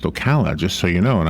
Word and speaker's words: Ocala: he kept pronouncing it okolloh or Alcala oh god and I came in I said the city is pronounced Ocala just so you know